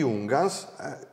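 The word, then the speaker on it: Junghans: parlato del minimalismo di ungas tiriamo fuori anche gli un gas con l'accento sulla House come piace tanto a me al centro sua Hans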